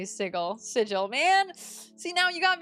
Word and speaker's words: sigil: Matt Mercer used to pronounce sigle as sigle. Sigil as sigle and a critical role bullied him to say sigle. Sigil, man.